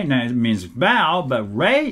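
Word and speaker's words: 礼: it means bow but Ray is expels REI right but Japanese people cannot hear the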